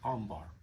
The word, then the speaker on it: Ambhar: very interesting tequila now it's you see how it's spelled a m b h a r Omar the uh they call this a Plata which